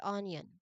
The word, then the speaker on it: onion: Again, there's no Y written in the spelling, but that sound is naturally produced as part of the word's pronunciation, okay?